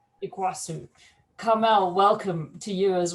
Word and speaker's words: Iguaçu: And from Brazil, we have Carmel Croukamp, who is the CEO of Parque, located in, I'm going to say it wrong, Iguaçu? Iguaçu.